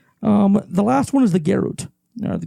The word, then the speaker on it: garrote: The last one is the garrote. The garrote?